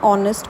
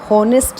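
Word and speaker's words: honest: my father is एंड ऑनेस्ट person यहां पर देखो इसको होनेस्ट नहीं पड़ते हैं वह ऑलमोस्ट है एक साइलेंट होगा टेंस माय फ्रेंड लाइक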